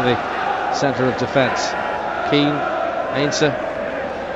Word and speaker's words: Heinze: of defence keane ainsler unless you're wondering about uh the pronunciation of his name it was the subject of considerable debate uh before the game as to precisely what he should be known as obviously a german extraction heinzer would be his name but in argentina they call him ainsa and they don't really pronounce the h and that's straight from